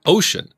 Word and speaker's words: Wouxun: wookson for those that don't know how to pronounce it ocean kg 905 5 watt handheld gmrs walkie